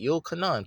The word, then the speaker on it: Yochanan: You can't go from Yochanan to John and shit. It sounds close. Yochanan, John. No, it's kind of close. But you can't, no, say it right. Yochanan. Put a Y there. Put a Y-O-Chanan. Say Yochanan. Your name is Yochanan.